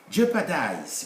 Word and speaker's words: jeopardize: educated american standard speech jeopardize we don't we write it we don't pronounce it we have already said